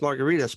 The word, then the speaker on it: Margaritis: my email address is at last name is m-a-r-g-a-r-i-t-i-s dot com it's pronounced margaritas but it really should be margaritas but that's too much like hepatitis and gingivitis so there's no fun